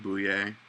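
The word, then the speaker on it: Boullier: the renault bosses um i think bouillee that's how you pronounce his name um and i think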